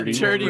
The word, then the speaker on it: Turdy: Also, I want to specify Turdy is spelled with a D instead of a second T, so it's Turdy. Yeah, and a Y, not IE.